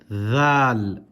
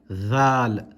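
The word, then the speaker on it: ذ: Again, with your tongue touching the top of your with your tongue touching the upper teeth.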